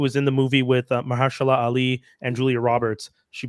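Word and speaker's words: Myha'la: a apostrophe L A Mahala I imagine is how it pronounce that m y m y h a apostrophe l a hero not Mahalia no because there's no I yeah no m y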